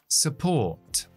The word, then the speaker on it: support: Apoyo. Support. Support. Esa U es una schwa. Acentuamos port, la sílaba que empieza por la P.